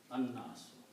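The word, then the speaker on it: الناس: no har on L noon should be pronounced twice there's a sh on that an the people okay and so the word is anas and when you combine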